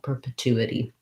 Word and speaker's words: perpetuity: it's a challenging combination this t here we say as a t it's a part of the stressed syllable so it comes out with a puff of air two this one more of a d perpetuity and then your second